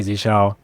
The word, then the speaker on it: Zsh: anyways yeah it's all my Zell is how I pronounce it and 15 years and